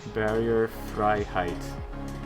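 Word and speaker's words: Barrierefreiheit: Okay, EI is pronounced like I in German. So, Barrierfreiheit.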